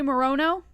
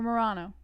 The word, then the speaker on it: Moreno: Moss, do you say Moreno? Moreno. Or Morano? Moreno, because he's a moron.